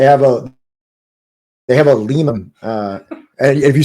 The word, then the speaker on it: Lima: pronouncing it wrong like there's a Lima Ohio but they pronounce it Lima I mean like is